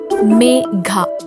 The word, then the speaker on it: Megha: - Megha. Megha Subrahmanyam. Miss Megha... It's not Mega.. Me..Gha stress on Gha.